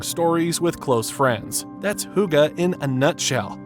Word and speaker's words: hygge: Pronounced hygge, this isn't just a word, it's a way of life that's as quintessentially Danish as Viking legends and Lego bricks.